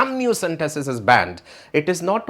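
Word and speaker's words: amniocentesis: लोगों के वीडियोस देखूं जिन्हें एमनियोसेंटेसिस का सही उच्चारण नहीं पता और वो अमाइनोसेंटेसिस कह रहे हैं, जिन्हें ये नहीं पता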